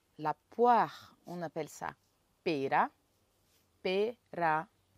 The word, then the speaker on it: pera: La poire, on appelle ça pera. Pera. Il faut faire le roulement pour bien prononcer les R.